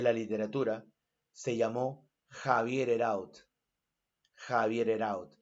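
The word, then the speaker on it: Heraud: Ese joven de la literatura se llamó Javier Heraut, Javier Heraut, o Javier Heró, como se pronuncia.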